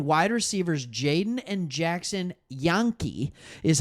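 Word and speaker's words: Janke: And according to reports, Houston has signed wide receivers Jaden and Jackson Yonke, is how it's pronounced.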